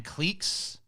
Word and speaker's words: clique: It's not a clique. It's a clique.